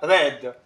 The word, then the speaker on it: read: is a noun and it is pronounced as red um it is the